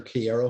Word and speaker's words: Kiera: They pronounce her Kiera Hogan.